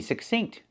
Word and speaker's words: succinct: We see two C's. The first C makes the k sound, like in cake, k, k.